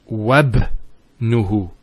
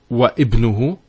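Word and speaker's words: وابنه: we're actually reciting it, we don't pronounce this Hamzah. We go straight to the ba. So it's wabnuhu. It's not wa ibnuhu, it's wabnuhu. It's like it joins the waw to the word ibn.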